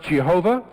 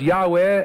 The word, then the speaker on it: Yahweh: know what it means it is sometimes pronounced Jehovah it is sometimes pronounced Yahweh as if it is a word yeh weh because the